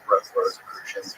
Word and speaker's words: Rosicrucians: Rosicrucians. Rosicrucians, yeah.